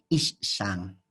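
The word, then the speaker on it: אישה: y la palabra mujer o el concepto que hace referencia a mujer será isan y la traducción es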